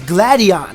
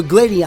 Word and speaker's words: Gladion: team skull who is known as gladion or gladon I'm not sure how you pronounce his name I'm going to say gladion so his name is